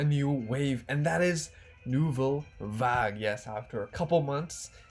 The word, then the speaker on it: Nouvelle Vague: but with a new wave and that is nouveau vag yes after a couple months our wonderful subscribers